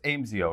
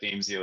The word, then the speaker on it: Aimsio: have a little bit of trouble with the pronunciation did i say it's amezio right it is yeah it is yeah yeah we'll accept anything but damesio is the the actual way it seems to